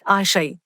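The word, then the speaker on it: Àṣẹ: power pronunciation and अट्रब्यूशन आशय is pronounce आशय इट इज a word from the यूरोबा tradition of of waste Africa specifically Nigeria हाली सारा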